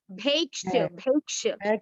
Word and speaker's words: भैक्ष: दो मात्रा है तो भे नहीं होगा। भैक्ष।